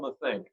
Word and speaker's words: Matheny: have an old friend as my guest mathink am i pronouncing the last name right oh you